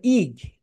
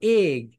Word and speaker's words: egg: তোমরা এটাকে বলো ইগ, ইগ বলো, দ্যাটস রং। এটাকে বলতে হবে এগ।